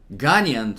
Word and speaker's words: Ghanaian: I'm horrible with geography that's the correct way to say it Ghanaian so it's Ghana so